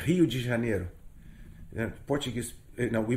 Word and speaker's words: Rio de Janeiro: Rio de Janeiro has a population we say Rio de Janeiro yeah Portuguese you know we pronounce it okay uh but with the American Americans say Rio de Janeiro right um so Rio had a population in